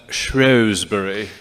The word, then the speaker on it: Shrewsbury: The British pronounce that Shrewsbury.